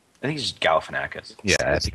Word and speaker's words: Galifianakis: to say his name I think he's just Galifianakis yeah I think it's I think it's simpler